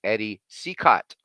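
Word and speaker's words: Eddie Cicotte: and and to the chat here it is pronounced Eddie cicott so so I guess even Smokey Joe got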